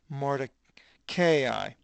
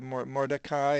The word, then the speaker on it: Mordecai: In Susa, this Poli, metropolis, Poli city, and his name, onomatopoeia or noma, name, was Mordecai. That's how I pronounce it. Different people pronounce it Mordecai and whatever.